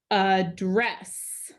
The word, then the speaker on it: address: So this says address. Address. That second syllable is accented this time.